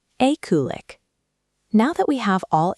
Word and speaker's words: eklig: Let's break down the syllables on this one. Repeat after me. E-ku-lik.